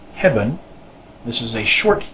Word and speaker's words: hebben: How come it's not pronounced eh? It's pronounced What's up with that? Well, this one falls in an unstressed syllable. Hebben. Hebben. So, an unstressed syllable with an E in it, the E becomes what we call a mute E. It's not really muted, it's just pronounced which is also known as the schwa sound.